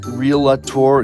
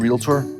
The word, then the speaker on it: realtor: your real estate partner does it bug you when people pronounce it reelector instead of realtor call me by anything